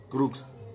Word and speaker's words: crux: Y por último, la crux, en latín se pronuncia así, crux, pero significa cruz, de Cusata o cruz de San Andrés, en la forma de la letra X.